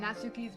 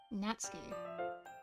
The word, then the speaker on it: Natsuki: It depends on your accent and how you're pronouncing the Su in the name. Natsuki. Because all you're doing with that is you're just saying the Su a lot faster.